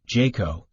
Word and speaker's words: JCAHO: also referred to as jcaho pronounced jaco and the national committee